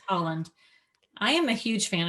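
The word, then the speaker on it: Haaland: pronounce her either. It's Holland.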